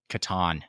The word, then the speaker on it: Catan: you have to admit you pronounce it wrong we looked it up did we there's a definitive fact that it's catan oh i like it